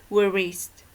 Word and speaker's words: wrist: Wrist, not wrist, okay? Only wrist.